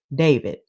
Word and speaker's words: D4vd: Now, there's this singer there's this singer named um David and it's spelled D4 BD and I'm like from his name he guilty but no let me stop.